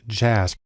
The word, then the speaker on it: JASP: has developed a program called jasb it's actually pronounced jazz which is sort of an open source version